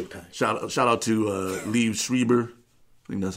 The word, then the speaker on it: Liev Schreiber: a what she okay shout shout out to Liev Schreiber that's how you pronounce his name he played yeah Liev Schreiber he Shriver Schreiber Schreiber yeah yeah I don't